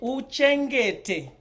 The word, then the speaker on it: uchengete: And remember that the syllables for Shona always land on the vowel. So U is a full syllable on its own. Che, it's right there at the E. Nge, te, va, ka, ku, re, ra, wo. Uchengete vakakurerawo.